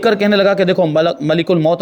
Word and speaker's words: ملک الموت: ملک الموت نکل گیا۔ ملک الموت یہ عام طور پر بول دیتے ہیں، عام بول چال میں ملک الموت بول دیتے ہیں، لیکن صحیح جو تلفظ ہے وہ ہے ملک الموت۔ ملک معنی فرشتہ اور